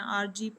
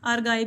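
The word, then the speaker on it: ARGI: आपके स्पेलिंग गलत है ए आर जी आई है ठीक है इसको आर गाय भी कुछ लोग पढ़ लेते हैं कुछ आरजी पढ़ लेते हैं फेवर फ्रीडम प्लस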